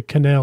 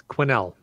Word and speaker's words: Quesnel: I would look at it and assume it was French and say Canel or something, but that's a good one. Three cats? Probably Quesnel. It's Quinnell. No S. Silent S.